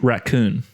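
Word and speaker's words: Rakau: And it has Citra and Raku. And it's pronounced raccoon.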